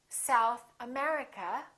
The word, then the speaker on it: South America: If the place has two words, we stress the second word. For example, South America, we say South America. United Kingdom, we say United Kingdom.